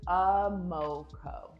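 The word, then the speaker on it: Amorkor: but first things first, let's pronounce my name together. Amoko. Amoko. The R's are silent. It's from Ghana. It means second born daughter. In Ghana, they would pronounce it more like Amoko.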